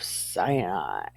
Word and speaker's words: Sinai: to the desert of Sinai see there's no pronunciation on this word so it would be Sinai right because s-i-n is sin a i is I than I and